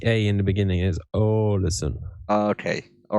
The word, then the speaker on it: Alisson: I like your pronunciation with the team. What did you say? Alesand? That's the goalkeeper of Liverpool. That's Alisson.